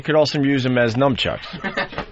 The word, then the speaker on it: nunchucks: But you could also use them as nunchucks.